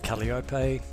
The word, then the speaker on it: Kalliope: c so here we are my rg15 called caliopay and uh i hopefully will be taking many